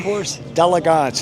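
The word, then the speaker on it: Concours d'Élégance: Concours d'Elegance.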